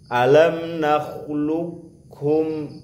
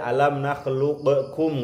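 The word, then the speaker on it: أَلَمْ نَخْلُقْكُمْ: Nah, model yang kedua kofnya dibaca tapi kol-kolahnya hilang. Kofnya kan aslinya mati tuh. Nah, bacanya seperti baca kof, kof hidup. Jadi tapi kol-kolahnya hilang. Enggak boleh baca alam nakhluqukum, enggak boleh.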